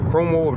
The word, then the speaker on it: Cuomo: And now also he's come out with Cuomo, Chris, Chris Cuomo, that's how you say his name.